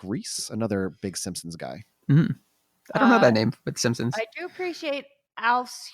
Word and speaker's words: Reiss: Wow and I think I think it's pronounced Reese Mike Reiss another big Simpsons guy